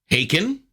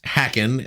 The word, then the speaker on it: Haken: Ross Jennings of the UK progressive metal act Aiken which unfortunately I pronounce hacken at the beginning of our interview and I